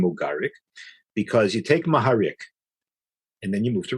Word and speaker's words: Maharik: So a person named Mogarik is Maharik, except that in Russia, that's how you pronounce it in Russian.